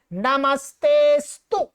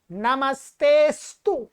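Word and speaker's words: नमस्तेऽस्तु: ये जो है ये ऐसा चिन्ह लग रहा है, इसका कोई उच्चारण नहीं होता, ये चिन्ह है, ठीक है, इसका कोई उच्चारण नहीं होता है, सीधा बोलेंगे नमस्तेस्तु, नमस्तेस्तु।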